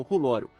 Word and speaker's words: R'hllor: Logicamente, as pessoas que falam Alto Valeriano confundiriam a pronúncia de uma palavra estrangeira, razão pela qual Thoros a pronuncia como Rulório, o que pode explicar o erro.